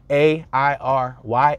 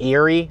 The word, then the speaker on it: Airy: Airy as its own so it's actually spelled air like air like you're breathing air a i r y Airy but I mean depends how you say it or your accent it kind of sounds like I'm saying Mount Eerie like Erie and Torresdale or whatever but no it's not Eerie it's Airy Mount Airy but I